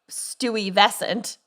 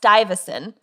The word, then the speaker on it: Stuyvesant: pronounce it before i lived in new york stewie vescent and they're like what and it's pronounced stuyvesan but so bed stuyvesant bedford stuyvesant but it's oh bed stuy beds got eye